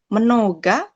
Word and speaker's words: много: Selanjutnya di sini ada dua huruf vokal atau silabel, tapi huruf yang ditekan di awal tuh, di akhir nggak ada konsonannya. Di sini nggak ada konsonannya. Jadi dibacanya A. Menoga, eta.